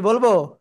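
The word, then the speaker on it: ب: ওকে এই যে দেখেন দুই ঠোঁটের ভিজা অংশ থেকে বা অক্ষরটা উচ্চারণ হবে বা এক আলিফ টেনে পড়তে হবে কয় আলিফ এক আলিফ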